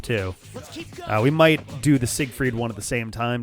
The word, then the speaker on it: Siegfried: So the S would be a Z sound. The G at the end of the syllable would give you the K.